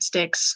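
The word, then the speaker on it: Styx: Sticks, stinks, however you pronounce it.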